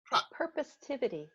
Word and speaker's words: Purposetivity: a great book uh prosp how do you pronounce it prosperity purposivity i made it up it is now okay